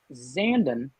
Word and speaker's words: Zandon: Lean Zandon, like Brandon. That's how I learned how to pronounce it.